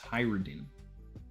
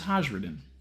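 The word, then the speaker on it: Hajrudin: Saeed said, just a tip, his name is pronounced Hyrodin. I thought it was Hajradin. I thought you were supposed to, like, really roll that J.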